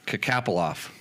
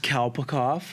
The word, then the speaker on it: Kalpakoff: Kapoloff. One more time. I should look at the spelling, and then I can make it even worse. Kapoloff. One more time. It's pronounced Kalpakoff. Kalpakoff.